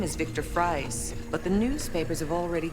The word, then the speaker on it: Fries: god one more thing what's the correct pronunciation of your last name it's fries thank you you